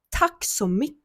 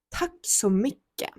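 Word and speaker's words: tack så mycket: Наступне, звичайно, це якщо ми беремо градацію, да, дуже дякую, це буде таксомике. Таксомике. І теж тут зверну вашу увагу, що в словіт буква наприкінці не вимовляється. Ми просто кажемо таксомике. Таксомике.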